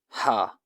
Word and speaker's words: ح: Ha sound is pronounced from the middle of the throat, like the wind blowing through a pipe.